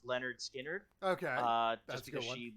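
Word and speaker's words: Lynyrd Skynyrd: i got her the leonard skill entered album pronounced leonard skinner okay uh just because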